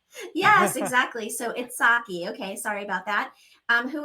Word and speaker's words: Itshaki: Am I saying your name right? Itshaki? It's pronounced Itshaki, but it's totally fine.